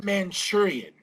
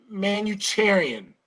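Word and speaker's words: Manucharian: get her name wrong they always call her Esme manchurian and she corrects them says has made man you terian I totally did not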